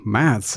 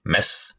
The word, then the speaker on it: Mads: So Mads is completely wrong. Mads. It's mess. Oh, really? Mess. Wow. Yep. Like if you've done a mess.